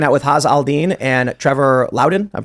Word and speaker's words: Trevor Loudon: uh we're hanging out with HZ Aldine and Trevor Lowden I'm pronouncing that correctly Trevor L that's correct and